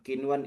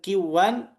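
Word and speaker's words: قنوان: nun sakin ketemu wau bukan kita membacanya dengan qiw melainkan Qinwan. Maka kalau ada yang baca dengan qiwan, dia terjatuh pada lahn.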